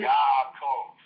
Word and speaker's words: Yaakov: In Hebrew, the derivation of Jacob is Yaakov. Yaakov. All right. Yeah, it's spelled Y-A apostrophe A-K-O-V. Thank you. Yaakov, with that little pause with the apostrophe.